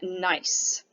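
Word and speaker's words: gneiss: mica schist and then nice g n e i s s the g is silent so nice is also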